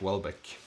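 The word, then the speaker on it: Houellebecq: so let's see here I think it's pronounced as if starting with a like W like Welbeck okay so if I'm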